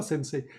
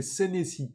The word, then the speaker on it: Senesi: En plus, c'est même pas sensei. C'est Senesi.